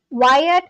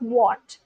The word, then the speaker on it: Wyatt: Wyatt, what what uh why did you not tell me that the pronunciation of your name is Wyatt and not what?